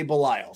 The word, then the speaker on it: Belial: I've heard it a couple ways. It's either Belial or Belial, and I myself say Belial. So Belial. That's how I say it. So it's Belial, issue 3.